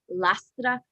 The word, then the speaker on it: Lastra: No, I guess technically it's like Lastra because it's Cuban, but everybody Americanizes it.